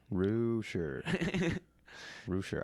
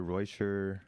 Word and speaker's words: Reuscher: name no that's right a lot of people mispronounce it it's it's all right it's Rooter Rue sure I hear reuter I hear rousher I get it I had to stop before